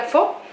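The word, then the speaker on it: phở: comernos una sopa po una fo porque se pronuncia fo Sí pues a comernos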